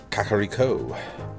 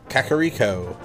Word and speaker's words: Kakariko: Kakariko. Kakariko.